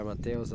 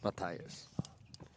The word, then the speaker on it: Matthias: Really great volley again by Mateos, accelerating, putting pressure on Bryce, pushing him to the back of the court. Matthias. We apologize here for the wrong pronunciation of the player.